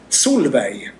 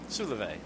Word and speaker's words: Solveig: Yeah, Solveig. That's how we pronounce it. Solveig.